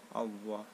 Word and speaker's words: Allah: tasjid yang terdapat pada kata Allah itu kalau membacanya itu double out Allah jangan hal-hal jangan gak double ya perhatikan kata-kata ayat